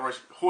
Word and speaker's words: Royce: you're going to fight Roy ho or Royce depending how you like the uh you know pronounce it uh Gracie and um